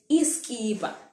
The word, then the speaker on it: isikiba: Lastly, I have isikiba. We just pronounce it iskiba, all right?